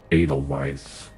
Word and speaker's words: Edelweiss: Edelweiss now you will be with us forever Edelweiss that's how you pronounce it I'm going to try to ignore